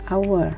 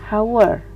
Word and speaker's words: hour: Ours walaupun diawali dengan huruf H atau huruf konsonan tapi dia diucapkannya hour bukan hower itu pull suara vokal